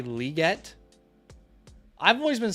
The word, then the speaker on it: Legette: keep hearing people say liette I've always been saying Legette what about you guys I keep hearing people say liette though I'm wondering if I'm starting to say it wrong or something and there